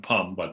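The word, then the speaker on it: pam: the the letter syllable pum so it's actually p-a-m pum so usually in the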